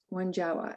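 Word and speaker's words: Wonjowa: of my gatherings and her name was one jawa one jawa and one jawa is spelled w-o-n-j-o-w-a and and when jawa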